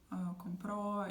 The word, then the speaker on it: compró: So like I bought something, compré, or compró. If he bought something, the stress is going to be on the last syllable again with the tilde.